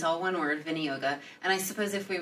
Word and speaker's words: viniyoga: We just say viniyoga. Right. Which is not from, as we always have to say, it's not from some dude in Brooklyn. It's not Vinny.